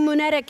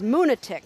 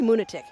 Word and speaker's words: Moonatic: Mother Trucker says, moonatic. Rhymes with lunatic? Yeah, help us. Moonetic or moonatic? Oh, it's probably moonatic.